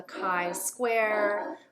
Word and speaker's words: chi-square: and the third one is something called the chi square i know that looks like chi square but it's actually pronounced chi-square again there's many different types of